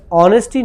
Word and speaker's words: honesty: Okay by the way honesty is actually pronounced as honesty not honesty. Okay so h over here will be silent.